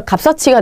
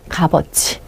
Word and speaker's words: 값어치: 우리가 배운 바에 의하면 접사는 어떻게 하셔야 되냐면요 이걸 고대로 연해 줘야 돼요 그래서 값 서치가 돼야 돼 값 서치 근데 그게 아니에요 얘는 뭐라고 바로 하셔야 돼요 값어지 그래서 이게 조금 부딪히는